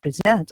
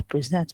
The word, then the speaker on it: present: example, to present, or when I say I present, okay, I present my session, or I present my course here, just from the stress on the second, you understand that it is a verb.